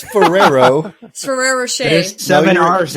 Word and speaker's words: Ferrero: ferero why are you you're adding like seven RS to it it's Ferrero Ferrero shade there's seven